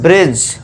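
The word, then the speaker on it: bridge: तो यहां पे डी को हम क्या कर देंगे दोस्तों? साइलेंट कर देंगे। ठीक है दोस्तों? तो इसे क्या पढ़ेंगे हम? ब्रिज।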